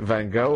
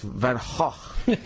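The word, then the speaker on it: Van Gogh: But I said how do you pronounce the name of your painter Van? Is it Van Go or Van? And they say it's Van Hawk.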